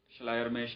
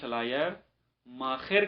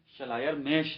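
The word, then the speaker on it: Schleiermacher: ہے، اس کو ترجمہ شلائر ماخر کے ساتھ کیوں کیا گیا ہے، حالانکہ شلائر میش ہے، شلائر ماخر نہیں ہے، لیکن اس کی وجہ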